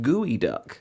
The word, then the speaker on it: geoduck: The first one reads, "Geod ducks are made better by the fact that it's pronounced gooey duck."